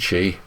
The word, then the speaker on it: Qi: are various standards uh the most common one is spelled Qi and it's pronounced Chi because apparently stes for